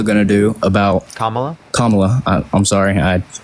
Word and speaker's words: Kamala: Kamala. I'm sorry. It's just my way of pronouncing.